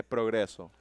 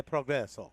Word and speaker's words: progresso: E progresso. E progresso.